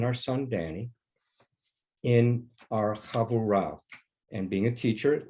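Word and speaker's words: havurah: son danny in our chavurao and being a teacher let me spell it um h-a-v-u-r-a-h and if you want to pronounce it in the hebrew havorah okay it's it means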